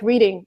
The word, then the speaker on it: Reading: And if you read it according to rules, it's just like reading, just like the word to read in the continuous form, but they would pronounce it Reading. And there is no rule. You just have to know.